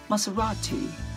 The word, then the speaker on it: Maserati: It's called a Maserati. But some British people say it's Maserati.